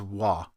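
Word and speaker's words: は: The only exception to this is when this character, the ha character, is acting as a particle, which is to say, when it's serving a function as its own kind of word, known as the topic marker. For English phonetic purposes, it's always written as wa, W-A, wa.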